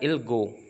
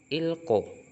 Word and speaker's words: 읽고: Terus yang bagian ini, yang ini, emang sih benar ilgo, tapi lebih tepatnya kita bacanya kayak gini, ilko. Ilko, oh ya. Nah, jadi giok tersebut yang di bacimril giok akan bergabung sama giok yang di sebelah kanan, makanya dibacanya ilko.